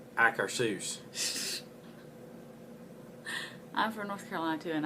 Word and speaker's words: Akershus: a debate as to how to pronounce it sometimes if some people says auger shoes or acre seuss italy it's in norway I'm from North Carolina so I say a car soos I'm for North Carolina